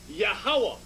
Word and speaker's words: Yahawah: these four characters yahawah a three syllable sound yahawa you connect the last two characters yahawa connect the last two the first to are separate yahawa in the English where you have the YH wh the first to pronounce separate yaha the last two are connected yaha okay so now